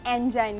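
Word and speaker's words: Engin: इनका नाम है एक्चुअली जो वो लोग प्रोनाउंस करते हैं वो एंगन करते हैं, हम भी इसको एंगन प्रोनाउंस कर सकते हैं, लेकिन अगर हम इंग्लिश की प्रोनाउंसिएशन में देखेंगे तो इनको हम एंजाइन कहेंगे। मैं समझी इंजन है नाम। नहीं, इंजन नहीं, एंगन।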